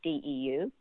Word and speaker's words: Deu: that I guarantee you if they try to spell that, we're going to get it wrong. Well, maybe the name is Nashater. Deu is Deu, and Solheim is Solheim.